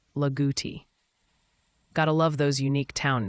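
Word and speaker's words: Loogootee: Locals around here would say it like Laguti.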